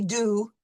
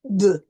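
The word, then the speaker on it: deux: the EU combination that we are going to pronounce this U, and it's going to be a more nasal sound, de. It will not be do, it will be de.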